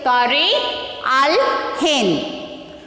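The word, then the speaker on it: Tarikh al-Hind: How to pronounce this? Tariq al-Hind.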